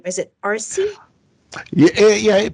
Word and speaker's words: Arce: your name is it rc yeah yeah for the non-spanish speakers they pronounce it as rc uh i speak spanish it's arsei a retired phoenix police